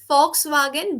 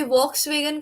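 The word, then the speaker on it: Volkswagen: German company ही है, तो ये वॉक्स वेगन कभी था ही नहीं है, फॉक्स वागन ही था शुरू से। अच्छा। या वी को एफ प्रोनाउंस करते हैं जर्मन में, फॉक्स वागन।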